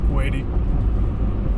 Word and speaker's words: Crappie: Looks like it's spelled like Quaddy, but pronounced Quaddy.